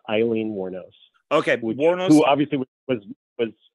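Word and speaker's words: Aileen Wuornos: I always mispronounce her name how do you pronounce it it's actually Eileen warnos it's it's just like the name but it's with an A so it's Eileen warnose okay who obviously was was warnose warnos okay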